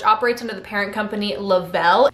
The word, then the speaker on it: Le-Vel: under the parent company lavelle it's spelt like level but lavelle sounds fancier so they're going with